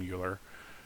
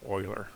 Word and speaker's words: Euler: Well, Texans call him Euler. The educated world call him Euler, all right? But he's Swiss, and if he wanted his name to be pronounced Euler, he should have spelt it that way, all right?